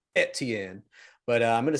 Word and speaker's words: Etienne: who travis and i i'm just gonna say etn because people are going to comment but i